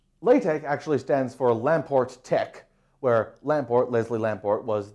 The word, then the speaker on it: TeX: to be an x rather because this t t e chi is the abbreviation of the greek word techni spelled tau epsilon chi nu eta which is